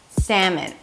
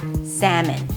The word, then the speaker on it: salmon: Let's begin with a simple fact that there is no L in the word salmon.